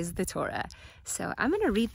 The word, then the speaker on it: Torah: compressed into the finite the Torah as we know rhymes with the word Aura it's not just a